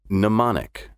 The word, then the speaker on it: mnemonic: the ability to recall the odd spelling of mnemonic with its initial mn comes from greek ultimately mnemonic comes from